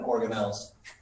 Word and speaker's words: organelles: and molecules and then organelles be careful of this the last syllable is important this is within a